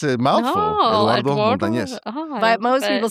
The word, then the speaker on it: Montanez: Montanez, Eduardo Montanez. Okay, Eduardo. I because know most people say, it's a mouthful. Eduardo Montanez.